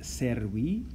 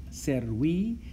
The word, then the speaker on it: servi: But if we want to say of the slave or of davus, we change that us into a long I ending pronounced E.